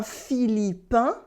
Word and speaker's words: Philippin: Un Philippin, une Philippine, because here we have no A, so it's only le I, so it makes the sound in.